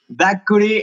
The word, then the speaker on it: Dakuri: Friends, Welcome once more To Radio Brutal Today we have the honor and pleasure To have with us: Dakuri (Did I say it right?) Itzi: Yes Daniel: Dakuri!